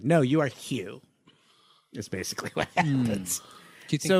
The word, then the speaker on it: Hugh: It is a little sweaty that he goes from you to Hugh.